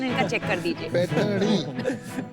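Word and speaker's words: पैठणी: सलोनी, पैठनी, वो जरा प्रोनाउंसिएशन इनका चेक कर दीजिए. पैठनी। पैठनी।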